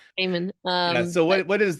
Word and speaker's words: Gaiman: Gaiman.